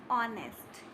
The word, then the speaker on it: honest: For example, R and honest. In such word, the letter H is silent, but it has the sound of a vowel.